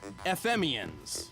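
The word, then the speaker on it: FM-ians: made of electromagnetic waves known as FM Ian's like FM radio aliens oh no FM Ian's that's actually how it's spelled who tried to help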